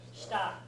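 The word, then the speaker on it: 下: down or under, and it's pronounced shita.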